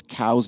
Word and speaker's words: Coues: let me know that I pronounce it wrong. It's Couse deer, not Coues deer.